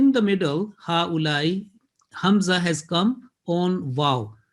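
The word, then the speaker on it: هؤلاء: So the pronunciation will be ha-ulai, or if we stop, ha-ula, landing on hamza, and a very soft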